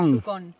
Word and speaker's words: Yukón: Yucon, creo que en español tiene acento en la O, así que sería Yucon.